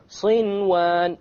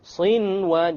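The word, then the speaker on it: صنوان: There's a noon sakin followed by a waw. Sinwan. Sinwan. You pronounce the noon. In this case, the ruling would be idhar. You make it clear.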